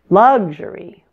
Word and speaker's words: luxury: isn't it luxury luxurious the word luxury stresses the first syllable luxury but luxurious stresses the